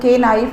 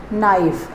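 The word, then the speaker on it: knife: Okay guys, तो बच्चों द नाइफ dropped, नाइफ की स्पेलिंग में आप देख रहे हैं ना, नाइफ के से स्टार्ट हो रहा है, इसमें के साइलेंट है, इसका जो प्रोनाउंसिएशन होगा वो के नाइफ नहीं होगा, दिस इज़ नाइफ।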